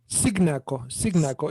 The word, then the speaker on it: Cignacco: Cignacco. It's an Italian surname.